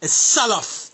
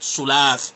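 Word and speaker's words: سلف: It's Salaf, not Sulaaf.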